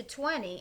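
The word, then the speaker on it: veinte: Vamos a pronunciar, we're going to pronounce the V here with like a little B sound, like a soft letter B.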